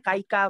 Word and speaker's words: KAEIIKA: Oh ya, nama tokonya Kaika Bu. KAEIIKA tulisannya. KAE? IIKA. Ada Instagramnya juga. Oh, KAEIIKA. Kaika. Kaika. Iya. Oh, Dibacanya Kaika Pak.